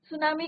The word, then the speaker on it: tsunami: under the C clear सुनामी का meaning आपको clear हो गया बच्चों सु मींस जो फर्स्ट पार्ट है इसका सु मींस हार्बर और नामी means strong waves T is your silent clear तो यहां पे